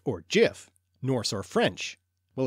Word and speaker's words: gif: So the important question is, gif or jif, Norse or French? Well, as far as I'm concerned, it's an English word, so it should be pronounced yif.